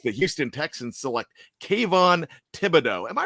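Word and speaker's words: Thibodeaux: With the 3rd overall pick, the Houston Texans select Kayvon Thibodeau. Am I pronouncing that right? Thibodeau?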